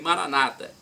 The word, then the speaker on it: Maranata: ou Protestantes nossos irmãos dizem Maranata com a tônica na penúltima sílaba e nós colocamos a tônica na última sílabas não importa a pronúncia